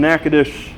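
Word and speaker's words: Natchitoches: and yeah it was in nakadish louisiana does it doesn't sound like how it's spelled yeah but yeah i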